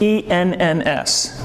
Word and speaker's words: Enns: It's E-N-N-S. Peter Enns. That would be how I would pronounce it.